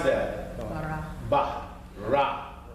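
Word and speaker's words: ברא: Bara. Ba. Ra. So you got a R-A, you got a B-A, you got a R-A, and you ended in an A. So bara. Bara.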